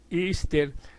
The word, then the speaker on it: Easter: Pascua de resurrección y que se pronuncia ister se remonta a la